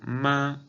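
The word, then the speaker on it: 妈: Por ejemplo, esta palabra en primer tono, ma, significa mamá.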